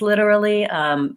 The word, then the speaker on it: literally: it's challenging to pronounce literally many people have challenges with ours and ELLs and when R and L are together in the same word it makes it more difficult but there's also some